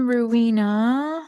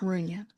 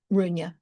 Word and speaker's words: Runyan: Um Jen Ruina Runyan I was just telling you how to pronounce her last And how is it? Runyan Runyan, thank you. I was wrong.